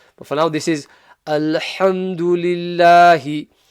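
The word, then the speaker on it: الحمد لله: But for now, this is Alhamdulillahi. Remember to pronounce the ha from the middle of the throat, from the correct makhraj.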